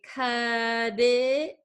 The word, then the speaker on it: cut it: So that means that generally we change this T to a flap T. What is a flap T? It is a T that sounds like a D. So we're going to say cut it, cut it, cut it.